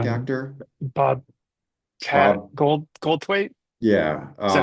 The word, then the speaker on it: Goldthwait: Goldthwait.